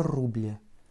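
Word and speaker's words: рубль: Le signe mou, c'est presque un petit i que tu vas prononcer à la fin pour que ton L soit vraiment mou. Rouble. Puisqu'en fait, ça t'indique que le L précédent est mou.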